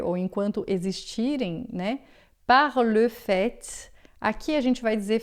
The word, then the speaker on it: fait: Agora, le fait, a gente diz o t final, quando é o fato. Se for de fato, en fait, a gente também diz o t final, tá? Então, no verbo a gente não diz, il fait, elle fait, il fait beau, elle fait des études, por exemplo, ou, é, le fait, aí sim eu digo t, o fato, en fait, de fato.